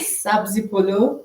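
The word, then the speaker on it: سبزی پلو: And can you pronounce the recipe for me? Because I can't. Sabzi polo.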